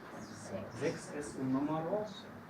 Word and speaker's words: sechs: El tercer caso es si viene después del CH una S, se pronuncia como la K. Sechs. Sechs es un número.